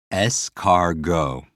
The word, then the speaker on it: escargot: For me, I hear scar and I hear go, or I hear escargot. And it's always about breaking it down into syllables and making a picture to help you to remember it. So you could picture a snail with a scar and what? They go.